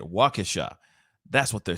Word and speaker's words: Waukesha: That's how you say it, Waukesha.